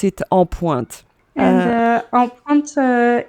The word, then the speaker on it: En Pointe: and I think she pronounced it on point. Yes, something like that. Yeah, but you pronounce it En Pointe.